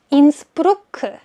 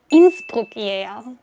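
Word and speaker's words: Innsbruck: 아, 그리고 이미 여러 번 틀린 스펠링 봐서 한 번만 언급하면 좋을 거 같은데 인스프루크 아니라 인스프루크 인스프룩이에요.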